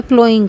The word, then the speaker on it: ploughing: तो खेती में सेकंड स्टेप जो होता है वो होता है प्लोइंग का। यहाँ PLOUGHING को प्लोइंग प्रोनाउंस करेंगे।